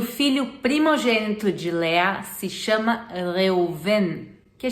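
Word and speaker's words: לאה: se chama às vezes Lia em português se pronuncia Lea e não vem do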